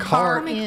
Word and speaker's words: Karin: Karin.